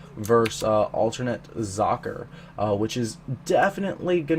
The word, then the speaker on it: Socke: number four um Z I've actually been calling him sake apparently that's wrong apparently in German because it it's the German word for sock it's zacher so I'm going to try and remember to say it like that from now on but I'm not a